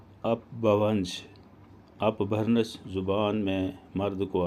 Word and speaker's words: اپبھرنش: زبان مانا جاتا ہے۔ اپبھرنش سنسکرت زبان کا لفظ ہے، جس کا تلفظ کچھ اس طرح ہے: اپبھونش۔ اپبھرنش زبان میں مرد